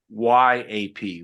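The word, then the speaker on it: lagniappe: And it's a word called lanyap. Okay. How do you spell that? Yeah, it's hard to spell. Okay. Lagniape. Okay. Phonetically, Gina, it would be Lanyap, lanyap. Okay.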